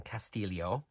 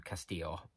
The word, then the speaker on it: Castillo: to read now by Elaine castillio and that is the correct pronunciation by the way she makes that clear in the book as opposed to Castillo um which was a